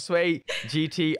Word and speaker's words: Swey Jitti: to the show so sway jitty is that a correct pronunciation it's like the car gt gt even better that sounds really great so we've got sway gt on today's episode so